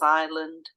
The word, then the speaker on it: island: silent a uh sorry silent s so examples Island debris a u guide